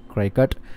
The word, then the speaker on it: Cricut: You can print these using Cricut machines like this one, or Cricut, I don't know how you pronounce it, but let me say Cricut.